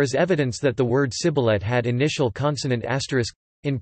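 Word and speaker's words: סִבֹּלֶת: by making them say Sibboleth, ear of corn. The Ephraimites' identity was given away by their pronunciation. Sibboleth. The apparent conclusion is that the Ephraimite dialect had s for standard.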